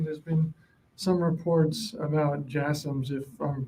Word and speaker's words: JASSM: There's been some reports about JASSMs, if I'm pronouncing that correctly. Yeah, the last question, yes, JASSMs. Yeah, you're pronouncing it correctly.